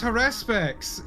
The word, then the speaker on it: Haruspex: I have learned today the correct way to say Haruspex, and why is it Harespex? I thought it was like an emphasize to you. No, it's Harespex, and I hate it.